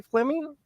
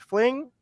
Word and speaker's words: Fling: and pull him in right now B Fleming yeah I I think I mispronounced that last name it's fling correct sir okay how you doing today I'm